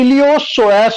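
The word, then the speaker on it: iliopsoas: Hip flexors में जिसको, इसको हिप फ्लेक्सर्स को और एक नाम है, इसको बोलते हैं इलियोसोएस group, ILLIO, ILLIO, PSOAS, P again silent है इधर, ILLIO, PSOAS, इलियोसोएस ग्रुप।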